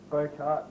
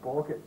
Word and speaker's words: Bokart: It's Bokart, not Borkett, guys, okay?